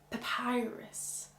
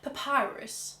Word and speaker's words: Papyrus: Papyrus. I just think of the British English. Papyrus.